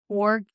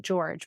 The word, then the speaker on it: Georg: And one of the things that is by, I think you pronounce his name Jorg Feuerstein. I don't think you pronounce it George, but it's spelled George Feuerstein.